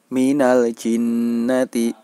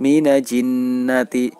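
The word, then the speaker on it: الجنة: Minal-jinnati berarti tidak boleh dibaca sebagai "minaj-jinnati". "Minaj-jinnati" tidak diperbolehkan. Mengapa? Karena Jim termasuk dalam bacaan Izhar Qamariyah. Oleh karena itu, "Al" harus dibaca dengan jelas.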